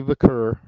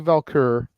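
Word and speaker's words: Vaquer: this week is that Stephanie vur and I hope I pronounced that right valky there's no l in it though yeah it's weird Spanish yeah fair enough so Stephanie valkur walked out of the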